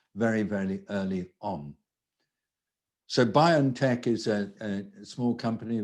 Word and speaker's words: BioNTech: uh bio and tech or bio it's it's pronounced biontech uh by ontech in uh europe these teams had been working